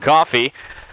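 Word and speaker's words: Cioffi: So 0-2 count here to Caden Coffey, the second baseman for the Golden Lions. As Zach said, last name spelled C-I-O-F-F-I, but pronounced Coffey.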